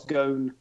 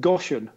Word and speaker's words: Ghosn: The whole Carlos Ghosn, which is how you pronounce it.